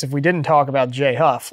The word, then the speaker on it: Jay Huff: It's only 2 syllables, man, and they go together.